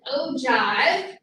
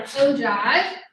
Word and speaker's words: ogive: All right, so the third graph is called an ogive. It's spelled a little weird because it has that G in it, an ogive.